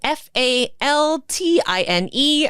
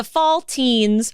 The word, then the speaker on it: Faltine: And her mother was a Faltine, Faltine. I've never heard that word said out loud. That's me assuming it's pronounced like saltine.